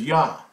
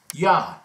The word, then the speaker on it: Yah: would see this as yah the first two letters so that's that's a transliteration of these two letters yeah so it's not ye it's yah that's why ye Hova is not correct you're taken away and